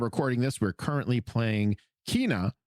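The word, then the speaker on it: Kena: this we're currently playing Kina which I've just learned is not pronounced Kenna after the first time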